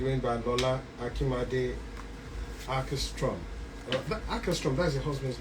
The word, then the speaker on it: Åkerström: Åkerström, that's your husband's name. Yeah, Åkerström. Yeah. How do you pronounce it, Ejo?